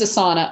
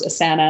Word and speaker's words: Asana: we use we use a sauna apparently it's pronounced asana and i've been pronouncing it incorrectly for it's a sauna